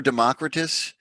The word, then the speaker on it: Democritus: it's pronounced democritus or democritus and i'm slowly learning that almost everybody who knows what they're talking about says democritus so i just feel dumber and dumber and dumber with each source i consult but you know i'm sticking with it democratise is what i'm saying democritus the most ingenious